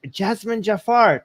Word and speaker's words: Jazmen Jafar: are live hi hi everyone we're here with Jasmine Jafar did I pronounce that correctly yes yes you did it's